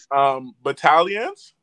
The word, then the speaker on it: Battalions: Okay, comment ça se prononce? Bataillon, c'est comment? Vas-y, Karl. Battalions?